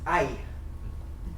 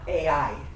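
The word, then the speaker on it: Ai: come to a I we just pronounced I not a I yeah I could go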